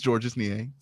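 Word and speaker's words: Georges Niang: like we don't we GNA search up a pronunciation gu George Nang zorge Nang zorge Z zorge zorge zorge Zang okay okay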